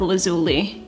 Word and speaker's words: Lazuli: then they said well I guess it depends on your accent but let's go with lazuli that was their way